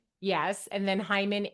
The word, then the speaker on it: Heiman: And then Hyman.